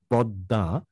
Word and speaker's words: পদ্মা: অর্থাৎ দেখেন পদ্মা দ দুবার উচ্চারণ হচ্ছে, দ্বিতীয়বার উচ্চারিত যে দ তা সামান্য নাসিক্য ধ্বনি প্রভাবিত হবে, পদ্মা, আত্মা, আত্মীয়, বোঝা গেল?